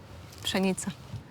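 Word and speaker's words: pszenica: uh wheat here how do you say weting chenita chenita yeah chenita yes and how do you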